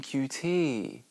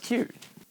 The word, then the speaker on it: Qt: yeah you know cute Oh you mean QT no pretty sure it's pronounced cute I'm not calling it